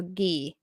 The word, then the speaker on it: Guy: say Patrick mom's name G sound like goat e sound like the letter so ghee interesting and that's spelled g-u-y First and Ten from